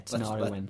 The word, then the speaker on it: Tinariwen: Yeah, Tinariwen. Let's spell it.